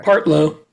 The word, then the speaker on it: Partlow: Now, Rick, am I pronouncing it right? Partlow or Partlow? What do you prefer? Partlow.